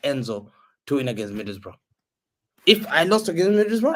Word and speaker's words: Middlesbrough: Mid-table fucking Middlesbrough.